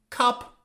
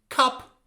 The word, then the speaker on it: cup: Cup, cop. What's the difference? Look at the phonetics. Cup, cup, Cup, this is a short vowel. Cup, but the other one, cop. Cop, this is a long vowel.